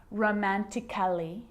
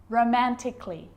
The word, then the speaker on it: romantically: like these romantically musically logically so I'm not pronouncing romantically musically and logically cut the a out get rid of it romantically musically logically now there's a rule to remember